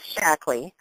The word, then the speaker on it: Shaklee: okl EE and not ly what's the proper pronunciation maybe you can set us straight Miley well it is shaklee it was dr. Shackley who knew actually developed the first vitalize middle